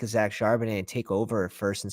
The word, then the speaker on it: Charbonnet: I mean, Zach Cabernet. How do you pronounce his last name? Somebody help me. I say Charbonnet. Charbonnet, there it is.